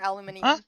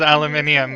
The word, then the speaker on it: aluminium: How do you say aluminum? Is it like aluminum or aluminium? Australia gas ladder at this. So Australia says aluminium but Larissa says aluminum.